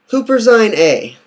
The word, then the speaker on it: Huperzine A: Wish I could show you a picture, but it's spelled Huper Zine, Z-I-N, and then space, capital A. Huperzine A.